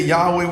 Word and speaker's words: Yahweh: word and so but most people say that Yahweh would be the pronunciation and the meaning it